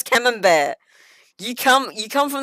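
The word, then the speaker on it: Camembert: it's chicken cave and cambian cheese cambian cheese bro you live in Britain how do you not know how to pronounce cam bear you come you come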